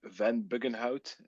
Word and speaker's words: Van Buggenhout: It's Eric Van Bugenhoud if you would ever want to uh try to pronounce that in English. It's a little bit tricky. I'm uh I'm Belgian, so I I yeah, my my mother tongue is is Dutch, so that's where the name comes from, if you will.